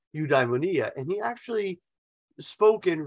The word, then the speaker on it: eudaimonia: I always used to pronounce that eudaimonia. And then I have had a colleague, he passed away a number of years ago, but I had a colleague and he said, no, it's pronounced eudaimonia.